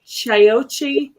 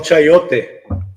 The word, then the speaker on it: chayote: Mariana di Chayote squash, but it looks like a pumpkin, and it's green, and it has little bumps on the outside.